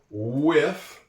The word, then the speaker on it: with: Now for the F with that strange sound in English where you put your tongue between the two sets of your teeth.